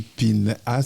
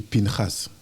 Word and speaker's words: Pinchas: Et ces prénoms bibliques se prononcent en hébreu. Donc quand tu dis Pinhas, c'est Pinchas.